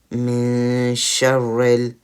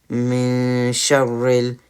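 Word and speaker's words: مِن شَرِّ: So it wouldn't be min, it would be min sharril, min sharril. Should be a bit more relaxed instead of more strong.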